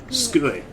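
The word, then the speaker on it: つくえ: Skue. Skue. So you sit at your desk in skue. Yes. Su. It's desk. Sue. Skue. Skue. Skue. So you don't really pronounce the first U then.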